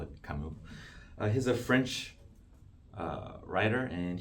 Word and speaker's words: Camus: He's French, and you don't really pronounce S, so he's Camus. I think the original pronunciation would be similar to Camille, but it's English. We call it Camus.